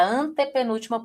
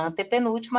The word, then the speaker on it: antepenúltima: Então você vai ver aqui, ó, a palavra antepenúltima é uma palavra proparoxítona, porque a sílaba tônica está na posição três, certinho? O mesmo acontece com sílaba, tá vendo, ó? Uma posição, duas posições, a terceira posição é mais forte.